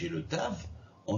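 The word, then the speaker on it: תו: Et après, vous avez le tav qui peut se prononcer donc de 2 manières aussi, tav, te ou to. Voilà, on touche plus les dents. Voilà, avec la langue.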